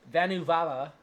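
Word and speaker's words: Vanavara: the closest settlement uh vanu vala i didn't make this up that's how you pronounce it um and unfortunately for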